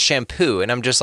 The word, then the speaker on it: Champoux: His last name is spelled Champous. Okay, and yeah, thanks. Right, and he's a sweetheart of a guy. No, he's amazing, like a sweetheart of a guy, but it's pronounced shampoo, and I'm just like,